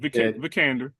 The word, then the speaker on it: Vikander: but my number six was Alicia Vikander, or Vikan. I keep calling her You Vikander. said it right, Vikander.